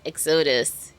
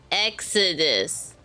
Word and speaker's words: Exodus: Not exotus. Exodus. I'm saying it right this time.